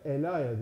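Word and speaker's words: ελαία: ve Elon var eliva bunu Yunancada bugün Ela Elaya diye okunuyor yağın adıdır Batı dillerine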